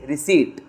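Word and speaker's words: receipt: रिसीप्ट ठीक है और ये रिसीप्ट नहीं है ये पी साइलेंट है तुम्हारा इट्स रिसीप्ट है ना तो क्या है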